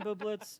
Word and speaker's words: Bublitz: do you say your last name no bublitz Jr he's a comic we met um I'll